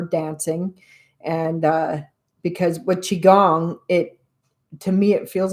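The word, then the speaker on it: qigong: on um YouTube and Chiang is spelled Qi G O N G. So chi is spelled qi. Chiong.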